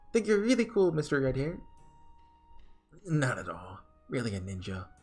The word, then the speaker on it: yen: like, for example, in Japan, yen is pronounced as N. I think we just misunderstood them, so in the West we call it yen.